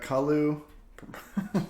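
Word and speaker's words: Kaluu: So we got Kalu. That's how you pronounce it.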